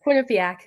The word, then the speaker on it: Quinnipiac: graduate from I didn't ask her how to pronounce a university. Is it Quinnipiac? Yes, Quinnipiac.